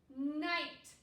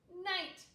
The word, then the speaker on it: night: the i i sound because our gh is silent second grade this is